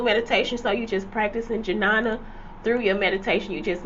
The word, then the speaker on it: Jnana: Pronunciation. To treat you right. Jnana.